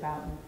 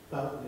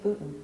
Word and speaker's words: Bouton: unlike the Bouton history or botin however people pronounce it I always said Bouton Bouton is right yeah other people are saying botin B I've heard both ways yeah potato potato